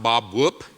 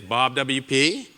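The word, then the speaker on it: BobWP: you were but anyway Bob WP is not pronounced Bob whoop as it has been pronounced when I've been to government offices it is Bob WP and I do have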